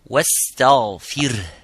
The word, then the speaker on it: وَاسْتَغْفِرْ: وَاسْتَغْفِرْ. This is another hard one to stop at the ha. وَاسْتَغْفِرْ. Pronounce the ha. Instead of saying وَاسْتَغْفِرْ, وَاسْتَغْفِرْ, وَاسْتَغْفِرْ. Pronounce the ha at the end.